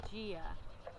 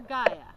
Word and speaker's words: Gaia: The very first winner of our writing contest is Ryan Lowe with this beautiful story called Dreamed of Gia, or Gaia, however you prefer to pronounce it.